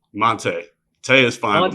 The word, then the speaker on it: Monté: Hey, Mont or Monty? Monte. Tay is fine, but Monte is the correct pronunciation.